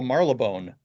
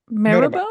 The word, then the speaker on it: Marylebone: Or no, I'm actually in the United Kingdom in a little place they call Marylebone.